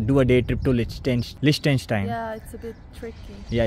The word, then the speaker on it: Liechtenstein: What is the pronunciation exactly of this country? Liechtenstein. Liechtenstein.